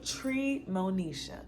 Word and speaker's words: Treemonisha: Today's opera that we're diving into is an opera entitled Treemonisha. That is tree, T-R-E-E, with the second syllable, Monisha, M-O-N-I-S-H. Like Moesha, but you just mix the N and the I, boom.